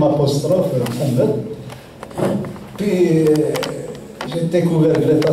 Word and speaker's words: Mohamed: ailleurs à l'étranger mais on ne prononce même pas le ha donc c'est ma mère direct. Et puis, c'est vu, c'est Mohamed.